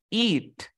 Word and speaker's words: eat: Es por eso que el pronombre, este pronombre se dice así como it, It. it. En cambio, el otro se dice eat, It.